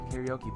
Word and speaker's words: karaoke: Karaoke, or karaoke as it's pronounced in Japanese, means empty orchestra.